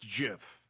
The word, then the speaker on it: GIF: is it it is Jiff it is not GIF the creator of the GIF said yeah no it's it's Jiff it's not GIF it's Jiff like the peanut butter it's graphic not jaffic